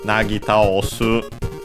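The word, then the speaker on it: 薙ぎ倒す: And so the translation for nagi taosu, accented by the way, just like taosu, are both the meanings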